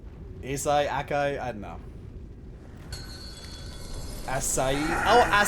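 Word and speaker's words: açaí: Acai, Akai, I don't know.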